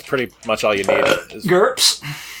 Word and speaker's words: GURPS: much all you know gurps yep like that yeah okay because it rhymes with in terms of Burke's I wasn't sure you'd